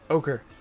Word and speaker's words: Ochre: Orch Jelly, I believe that's how it's pronounced. Ochre.